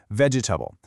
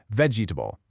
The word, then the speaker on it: vegetable: it with four syllables, vegetable. But, you know, in natural everyday speech, you'll almost always hear it with just three, vegetable.